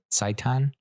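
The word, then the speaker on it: seitan: did pick up like Satan I know I know it sounds like I'm mispronouncing Satan but sa saiton it's kind of like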